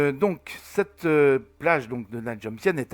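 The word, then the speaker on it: Na Jomtien: Et donc cette plage de Nha Jom Sien, ça s'écrit Nha Jom Sien, mais ça se prononce Nha Jom Sien. Nha Jom Sien.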